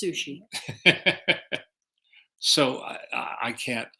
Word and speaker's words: Suchet: urchill porto then there's david suchet in the long-running british you know tv series again a magnificent actor that's pronounced sushi so i i i